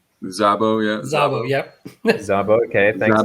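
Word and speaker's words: Szabo: out because i don't know if i ever pronounce this correctly the sabor zabo yeah yep yes okay thanks everyone telling me i'm wrong i appreciate that which is z 3 and 4.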